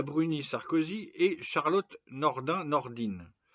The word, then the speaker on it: Nordin: Sarkozi et Charlotte Nordin Nordine ça s'écrit Nordin et ça se dit Nordine qui vient de sortir